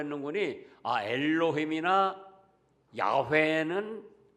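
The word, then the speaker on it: 야훼: 니다 여기 여호와 그러면은 원어로 보면 야외 왜 그래야 우 예 야외 라는 발음이 조금 하기가 교인이 까 여호와 이렇게 한답니다 여호와는 약속대로 이루시는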